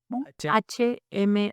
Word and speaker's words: Hmong: Uno hablaba en español, el otro traducía al inglés y del inglés al Hmong. Wow. Y así llevamos ¿Se escribe Mon? Hmong. ONG. Hmong.